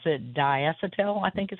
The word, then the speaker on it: diacetyl: that is uh I don't know how you pronounce it, diacetyl, I think is how you say it.